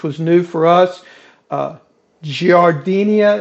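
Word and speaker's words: giardiniera: new for us uh giardinia is what i'm told is the pronunciation but i'm from the south so it may be some derivative of that so let's get started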